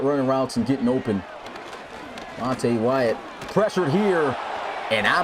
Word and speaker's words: Monte: I got to remember to stop saying Monty. He said his name is pronounced Monte.